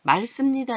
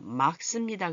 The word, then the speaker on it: 맑습니다: 맑습니다 이렇게 하면 안 돼요. 맑습니다 그래야 돼요. 막. 얘가 대표 발음이 나고 씁니다. 얘는 자음끼리 합쳐진 게 다음에는 막 씁니다. 이렇게 소리가 나겠네요.